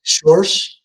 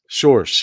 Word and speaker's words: Schorsch: Before I continue, I think I butchered your last name when I said it. Schorsch. Schorsch.